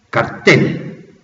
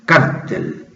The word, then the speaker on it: cartel: esto se habrá cambiado, como antes a mí me enseñaron desde la escuela primaria que se llamaba cartel o carteles, y ahora, como los norteamericanos, cuando pronuncian en español, cambian los acentos, los norteamericanos le empezaron a llamar cártel y cárteles, sobre todo por los jefes de la droga.